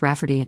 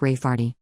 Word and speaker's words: Rayfarty: my sister wanting to name my niece Rayfarty, pronounced Rafferty, not at all like Rayfarty.